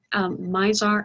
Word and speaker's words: Mizar: the naked eye would be mizor and elkhart mizar and alcor in fact if you want to go to those i didn't spell that right did i uh mizar would be